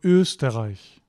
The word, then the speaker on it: Österreich: If you get ST and it's not at the beginning of a word or a syllable, then it's usually pronounced normally. Normally meaning S plus T, like kommst or Österreich, right?